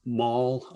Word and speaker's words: maul: But anyway, one last thing I'll say is there's a word in the poem, mall. You can't read it, but it's spelled M-A-U, all, like a blunt hammer as opposed to a shopping mall.